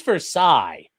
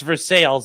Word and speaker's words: Versailles: I ask my coach I'm like where's Versailles? And he's like no no no no. He's like you're you're you're too educated for that. It's for sales.